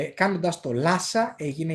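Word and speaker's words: Lhasa: και οι δυτικοί λάσα αλλά αν θέλετε να το προφέρετε και σωστά εκεί θα πρέπει να ε το πείτε λίγο με δασυνόμενη προφορά. Λάσα. Λάσα. Είναι άλλο πράγμα να πεις λάσα κι άλλο λάσα. Λάσα. Δεν λέω χάσα. Έτσι είναι πολύ ελαφρύ H μετά το λου.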